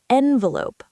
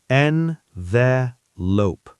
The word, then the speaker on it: envelope: And learners can practice envelope. Envelope. Careful. In American English, it's often envelope. Envelope. Envelope, not envelope. Right. Some people say it differently, but envelope is common.